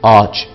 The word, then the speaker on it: ağaç: Ağaç yerine A'yı uzatarak söyleriz. Ağaç.